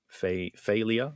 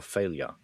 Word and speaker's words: Fey'lya: If it's Fey'lya, and this is spelt similarly, Fey'lya or Fey'lya? The audiobook says Fey'lya. Fey'lya. Not that that's correct, but that's just how I've heard it before. Fey'lya. Yeah, we'll go with that. Han spies Bothan Fey'lya.